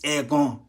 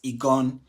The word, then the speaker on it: Eggon: In fact the pronunciation is egon right in egon means an act or the ability to hear clearly.